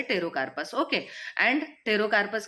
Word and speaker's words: Pterocarpus: Drug है वो है टेरोकार्पस। ओके, एंड टेरोकार्पस की स्पेलिंग क्या है, PTEROCARPUS। ठीक है, P is silent, that's why its pronunciation is टेरोकार्पस।